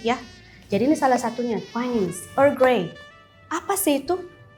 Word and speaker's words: Twinings: Sudah benar seperti itu bacanya Twinings?